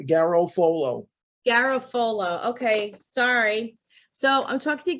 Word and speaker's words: Garofolo: Yes, it's Garofolo, not with an A at the end. Like you had. No. Oh, so boy. It's exactly as it's spelled. It's Garofolo. Garofolo.